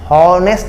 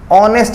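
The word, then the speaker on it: honest: तो बिल्कुल नहीं, यहां पे इसलिए नहीं लगा सकते क्योंकि एच मतलब हॉनेस्ट नहीं, ऑनेस्ट इसका हम लोग पढ़ते हैं, ऑनेस्ट, यानी इसका अ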